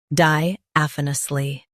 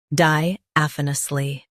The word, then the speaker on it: diaphanously: Diaphanously. Now read the syllables shown on the screen naturally. Di af uh nus li. Diaphanously. Emphasize AF and keep nusly soft.